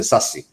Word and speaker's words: SASE: It means, actually they pronounce it SASE, Secure Access Service Edge.